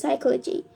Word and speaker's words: psychology: And a tricky one is psychology. P S Y C H O L O G Y where the P is silent.